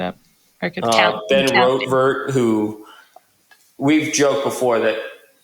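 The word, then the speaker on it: Rortvedt: Ben Rotvert, who we've joked before that. How do you say his name? Ben Rotvert? Rortvet?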